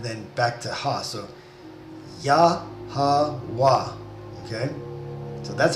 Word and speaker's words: Yahawah: So Yahawah, okay? So that's how you pronounce God's name.